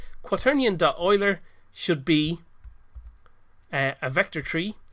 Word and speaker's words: Euler: oiler does it looks like it might be pronounced Euler but it's actually pronounced Euler and what this does it converts a normal